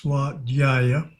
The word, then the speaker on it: Svadhyaya: Kriya yoga, austerity is Tapas, self-study, Svadhyaya, better pronounce Svadhyaya.